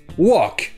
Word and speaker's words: walk: Et d'ailleurs, je vous rappelle que dans le mot walk, le L est muet. Ça se prononce juste walk.